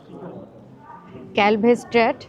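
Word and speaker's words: Kalverstraat: Shopping street, যেটা হচ্ছে ক্যালভে street বলা হয়। ক্যালভেস্ট্রাট বলে, অ্যাকচুয়ালি ওটা ডাচ প্রোনাউন্সিয়েশনের জন্য ওটা স্ট্র্যাট বলে ওরা।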